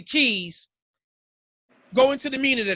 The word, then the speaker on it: Quise: you use that because you spell keys q-u-i-s-e but you pronounce the keys go into the meaning